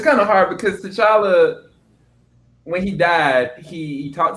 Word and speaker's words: T'Challa: What did T'Challa do? Did I say his name right? T'Challa?